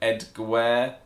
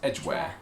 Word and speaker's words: Edgware: is sort of like EDGWARE or something like that. Yeah. But it's not, it's the same as the word edge, it's just EDGWARE.